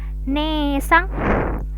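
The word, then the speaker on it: ねえさん: Ini ada nesang. Nesang itu kakak perempuan, jadi E-nya 2 harokat.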